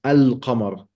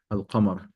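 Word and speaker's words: القمر: of the sun, and why it's pronounced in the moon, al-qamar.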